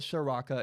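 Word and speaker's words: Ciarrocca: the time Kirk sharafa it spelled to the C but you call it Soraka it's very weird whatever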